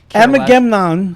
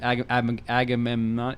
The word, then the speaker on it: Agamemnon: I that's like I could not Amnan. How do you say his name? Agamemnon.